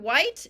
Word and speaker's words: white: we have the word White and the word house so let's look at those white has a silent h w h i t